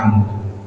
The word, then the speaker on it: Amr: Faqala Suhail ibnu Amrin, maka Suhail bin Amru, Amru sama Umar itu ada bedanya wawu kayak gini. Saya bacanya Amru kan gitu.